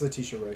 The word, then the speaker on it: Letitia Wright: It's Letitia Wright. It's- Oh, okay. I Yeah. never heard her name pronounced, so Yeah.